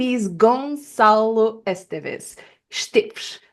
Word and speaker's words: Esteves: Esteves, I would say, because it's the pronunciation in Portuguese.